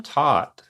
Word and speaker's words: Tot: The name Tot was a play on the original app Tyke. Okay. And it also rhymes with Jot.